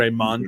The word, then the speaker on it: Raymon: Raymondo. But I'm just gonna be like Raymond. How dare you, so dog? my full name is Raymond. is with good. No D. It's Raymon.